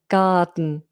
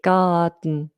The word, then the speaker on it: garden: It's allowing the D to kind of explode in the mouth. Dun dun. Garden. Or rather in the nasal cavity. Garden.